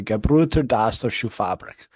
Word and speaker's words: Gebrüder Dassler Schuhfabrik: and the shoe company's name was the Gebrüder Dassler Schuhfabrik, Okay, there you go.